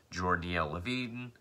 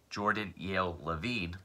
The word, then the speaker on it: Jordan Yale Levine: margulis jd liv shitz jordanielle levine jordan yale levine let me say that correctly jordan beckerman and ra